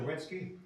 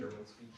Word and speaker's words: Sherwinski: Mayor, how do you pronounce the last name? Zerwinski? Zelensky? Sherwinski. Okay, all right.